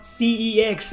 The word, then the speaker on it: CeX: No, son, it's pronounced CEX. Oh, there's a difference. Oh, yeah, it's called CEX.